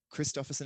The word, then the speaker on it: Christophersen: Christophersen is spelled Christopher, CHRISTOPHERSEN is on the end, not SON. Don't do it. It's SEN. Think Danish, think Viking, think me.